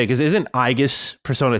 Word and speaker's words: Aegis: We were all pronouncing it wrong. It's Aegis.